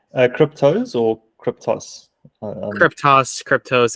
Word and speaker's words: Kryptos: Cryptos or cryptos? Cryptos. It's spelled it's KRYPTOS.